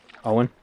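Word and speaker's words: Eoin: Is that how you say his name? Ian. E O I N. Irish names are hard. Stop blocking. Owen. Okay. Ian, Owen. It wouldn't surprise me if the names Ian and Owen were related.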